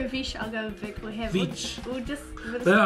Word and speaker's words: Vicc: You go with Vicc, I'll go with Vic. We'll just... Yeah, I feel like it's going to be Vic and then I'm going to be upset because I'm like, it should be Vicc, the way it's spelled.